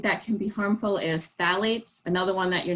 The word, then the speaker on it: phthalates: Another ingredient that can be harmful is phthalates, another one that you're not going to see listed on the label. Phthalates, that's spelled with a P, probably seen P-H-T-A-L-A-T-E-S, I think it is, and that's a component of fragrance.